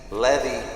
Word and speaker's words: Levi: name right la vie levy rourke it's spelled and pronounced exactly like chevy is it that complicated